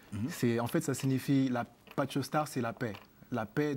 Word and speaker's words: Patchostar: Est-ce que j'ai bien prononcé Pacho Star? Oui, exactement, c'est comme ça qu'on le prononce.